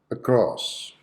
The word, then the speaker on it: across: the first word across across so how many syllables correct two syllables which one is the answer syllable okay the first one so the schwa sound should be present on the first syllable a cross across example